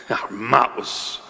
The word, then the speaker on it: Emmaus: Emmaus. That's the proper pronunciation, Emmaus.